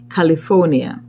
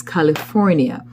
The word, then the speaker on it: California: We do not pronounce the R sound in many of our words, and California is frequently pronounced California. It's California.